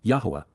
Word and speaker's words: Yahweh: Yahweh. The proper pronunciation of the name of Eloha, God as directed in his Torah teaching regarding his ha existence in our shalom.